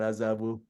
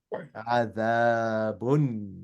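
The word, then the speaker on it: عذاب: No, it's not azabu. It's adabun, right? Yeah, Adabun. replace when you instead of saying the, use the English the. Adabun. Yeah, adabun. So that's how you pronounce adabun.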